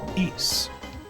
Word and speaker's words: Ys: if anybody doesn't know the series of games that spelled Ys is pronounced e or kind of like geese without a uh a g hey thank you for